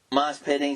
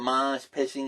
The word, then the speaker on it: mosh pitting: And then it's like, she mispronounced mosh pitting. He called it mosh pitching. He said, that's what they do in Australia. Here in America, they also have their own style called mosh pitting.